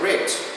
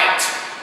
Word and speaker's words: writ: Concedido um mandado de segurança, o writ, não se esqueçam que a pronúncia é writ, não é right. Está errado, right, é writ.